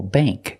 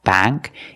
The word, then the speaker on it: bank: plate and date example Bank we don't say bank it's not ah like black cat bank it's Bank bank use the long a sound this is a bank